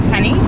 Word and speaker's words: Tenny: I'm Tenny. Tenny? Yep. How do you spell that? It's like Jenny, but with a T.